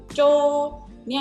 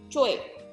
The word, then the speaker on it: Choi: Choi. Cara gampang menulisnya biar dibaca Choi itu kayak gimana sih? Choi. Bukan Choi. Choi. Tapi nggak bisa Choi gitu nggak, tapi Choi. Agak cepat ya.